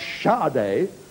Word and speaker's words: Sade: Pop stars are called Sade, who want to pronounce Sade, and Bjork, who want it Bjork.